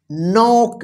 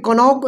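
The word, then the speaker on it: knock: इसको नौक यहां पर कनक नहीं पढ़ा जाएगा देखिए के के बाद क्या है एन है तो देखिए तो इस के का उच्चारण नहीं होगा या साइलेंट लेटर क्या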